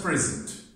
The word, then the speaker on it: present: okay present look at present present i want to stress the first syllable present what is present